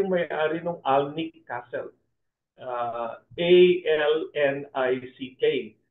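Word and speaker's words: Alnwick: A-L-N-I-C-K. But it's pronounced Alnick Castle, no?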